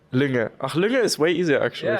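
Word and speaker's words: Lynge: Is that actually the correct way to pronounce Linge? Lünge.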